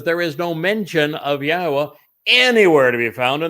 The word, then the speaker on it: Yahweh: Yes, it says Yahweh, which is the proper pronunciation of Yahweh's name, our Elawa, God, as directed by his Torah teaching regarding his high existence and our shalom restoration.